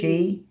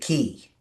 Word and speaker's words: qi: So is that's pronounced chi or is it key?